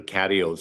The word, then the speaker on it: catio: and it said the catios are always available. Oh, Catio? yes. Right, I'm just not familiar with that term. Yeah, catios are. Rhymes with patio, so I'm guessing maybe. Yeah, absolutely.